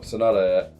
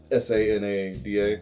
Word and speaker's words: Sanada: No, Sonata. Sanada. Yes. Right. Okay. It's like Canada, but with an S.